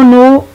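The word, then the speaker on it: know: आप देखें कि इस लफ्ज में के लिखने में तो लिखा जाता है, बोलने में पढ़ा नहीं जाता। तो ऐसे लेटर्स को साइलेंट लेटर्स कहते हैं, यानी जो देखने में तो नजर आते हैं लेकिन सुनने में उनकी आवाज नहीं आती। तो नो जो है इसमें के साइलेंट है।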